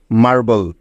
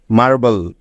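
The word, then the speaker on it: marble: আছে বি এল ই এই তিনটি বর্ণ যার উচ্চারণ শেষে থাকলে হয় বল তাইতো তাহলে মার এবং বল যোগ করলে হয়ে যাবে মার্বেল মার্বেল মার্বেল অর্থ হলো মসরিন পাথর ঠিক আছে এমন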